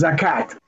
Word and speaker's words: Zakat: these are the Zakut, in Arabic you write Zakut, but you pronounce Zakat, the merits of Israel.